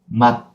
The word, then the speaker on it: 맛: No, it is not 마즈. It is, as you guess, 맛, 맛, 맛. That's it. Yeah, we have to close and cut.